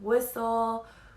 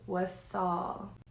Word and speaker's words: Wassal: It is not Whistle, Weasel, Wassel. My name is Wassal, okay? Wassal, like what's all that over there? What's up, but with the L at the end, Saul, okay?